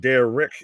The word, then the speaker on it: Derek: Derek is my name, and Dare Rich is how you say it.